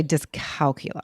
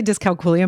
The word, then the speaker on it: dyscalculia: I like to say my when I say discalculia my kids stop saying that. Why do you say it like that? Like that's what the scientist says. That's the proper terminology. I you know I always say discalcula you know because it's easier.